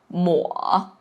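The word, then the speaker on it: 抹: And just to let you know, actually the ma can have a second pronunciation which is mo and the mo can also means to wipe out.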